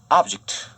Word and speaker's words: object: object는 액센트가 object 이런 식으로 앞에 오면은 물체, 목적, 그릇의 명사가 되고 액센트가 object 이런 식으로 뒤로 가면 동사로 반대하다는 뜻이 됩니다. 여기서는 명사로 쓰였으니까 object 이렇게 발음해야 되겠죠.